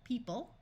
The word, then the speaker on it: people: a few more by in this word the O is going to completely disappear people this e will have